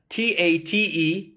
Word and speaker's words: Tate: yeah um how do you spell that uh t a t e a n d y o k o dot com so it's spelt tate t-a-t-e but it's pronounced tate because it's a